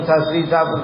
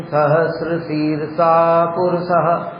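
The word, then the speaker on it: सहस्रशीर्षा पुरुष: ओम सहसा पुरुष सह ऐसे नहीं बोला जाता। ओम सहस्र शीर्षा पुरुष ऐसे पूरा उच्चारण होता है ऊपर नीचे जाता है वो तो सुनना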